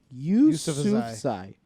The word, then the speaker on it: Yusufzai: No, is Shokat Yusufzai.